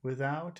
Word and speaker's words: without: say almost always okay so here's an exception without without without yeah so this is one time where you have to say out okay instead of with